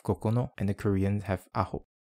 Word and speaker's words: 九: For pronunciation, the Middle Chinese ancestor of most modern pronunciations was kyo. This becomes jyo in Chinese, ku and kyu in Japanese, and ku in Korean. The Japanese also have their own reading of kokono, and the Koreans have aho.